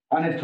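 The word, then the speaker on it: honest: এইচ কোনো ওয়ার্ডের প্রথমে থাকে কিন্তু উচ্চারণ হয় না, এদেরকে বলা হয় সাইলেন্ট এইচ।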